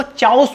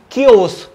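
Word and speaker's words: chaos: next word है क्योस, काफी सारे लोग इसको चाउस बोलते हैं लेकिन ये प्रोनाउंस होगा क्योस, इसका एग्जैक्ट हिंदी मीनिंग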